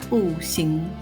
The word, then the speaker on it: 不行: Likewise, when followed by a character with the second tone, 行, the phrase is pronounced as 不行.